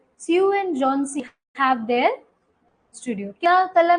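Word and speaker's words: Johnsy: एच यहां पे silent है। जॉनसी।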